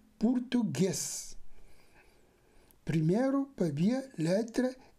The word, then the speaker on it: português: tu g e s portugês ou portuges mas sim português primeiro paraia letra e